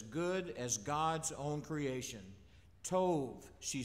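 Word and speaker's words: טוב: The word is tov. T-O-V-E is the way we'd spell it.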